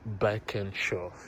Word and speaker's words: Birkenshaw: Yeah, we're in a place called Beckenshaw. If you look at the family shopper, so we're in Beckenshaw. Beckenshaw. Whatever pleases you. It's spelled Birkenshaw.